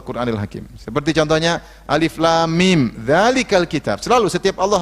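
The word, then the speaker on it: الم: yang dibaca per huruf jangan baca alam Tapi bacanya Alif Lam Mim Apa maksudnya huruf-huruf hijaiyah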